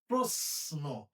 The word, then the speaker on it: প্রশ্ন: এই যে তালবসের সাথে ন আছে। তাইলে এটার উচ্চারণ কি? প্রশ্ন না এটার উচ্চারণ হবে প্রশ্ন। এই যে স আছে কিন্তু উচ্চারণ হচ্ছে ইংরেজি এস এর মত।